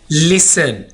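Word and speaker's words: listen: लिसन, यहां पर हम टी को साइलेंट रखेंगे।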